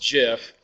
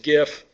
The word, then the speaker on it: GIF: gif and go well rules of the English language dictate when a G is first like the word the word gate you know it's a hard G well then you've got